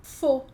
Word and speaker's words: faux: Aqui, de novo, não estou pronunciando o X, porque a última letra a gente pode ignorar aqui. E esse AU, eu não vou ler FAU, eu vou ler com som de O.